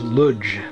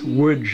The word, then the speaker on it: Łódź: seated outside in woods that's loads pronounced loads in american english uh sometimes bishop pronounces lodge but it's woods in polish um awaiting deportation to